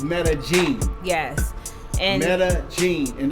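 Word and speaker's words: Medellín: i n and a lot of people say Metaline yes or Metaline yeah it's metag genene yes and metag genene and they really don't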